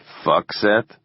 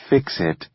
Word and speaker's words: FCCSET: "Fuckset?" No, they pronounced it Fix-It, laughing.